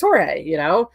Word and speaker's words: Jorge: Like you come to SoCal and you see Jorge. If you're from the Midwest, you're like George. I always say, but if you come down here, it's Jorge.